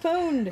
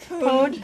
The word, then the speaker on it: pwned: It's like owned with a P. Pwned. Technically, you're not even supposed to pronounce the P, but otherwise people don't know you're referring to the purposeful misspelling unless you do pronounce the P.